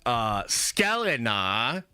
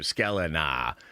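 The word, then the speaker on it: Sklenar: What a badass last name, Scalena. I don't understand it. If you read it, it's not pronounced that way, but it's just so cool.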